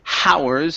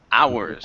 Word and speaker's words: hours: word hours okay so remember that H is silence instead of saying hows it's hours okay hours okay good so